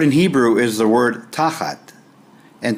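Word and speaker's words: תחת: The word in Hebrew is the word tachat, and tachat is spelled in English T-A-C-H-A-T, and the word means under, beneath, below, instead of, at the feet of, down, in place of.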